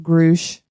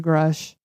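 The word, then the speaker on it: Grusch: as of late, David, I heard it's pronounced Grush, but I say Grush.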